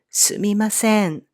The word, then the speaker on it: すみません: always better to say すみません before you say 行けないです。And the consonant M in this me is often dropped for easier pronunciation, and most Japanese people say すいません instead of すみません.